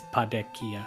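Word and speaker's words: Padequia: I used to call it that until I started playing the Japanese version and saw the katakana, and Japan it's Padekia, so I'm going with that.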